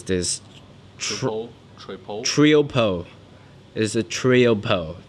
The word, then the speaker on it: Triopo: company name is T we how do you pronounce this troll trio po is a trio po t RI o P